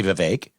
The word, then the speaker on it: Vivek: And it's not hard to say Vivek.